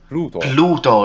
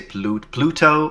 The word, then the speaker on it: Pluto: In English, you just say Pluto. Or Pluto. In your case, you're flapping because... That's right. Pluto in American, normal American English pronunciation. Yes. Or like pronouncing the intervocalic D.